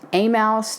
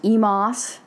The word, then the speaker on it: Emmaus: spelling with 1M e-m-a-u-s it's been pronounced a mouse to Emos to emaus but in 1938